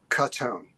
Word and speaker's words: Katone: It's how is it right pronounced? Katone.